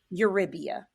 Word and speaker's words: Eurybia: Eurybia. So it's like Eurybia. Thank you. Eurybia, like your rib.